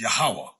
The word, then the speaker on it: Yahweh: I was taught the pronunciation is Yahweh, but we know it's talking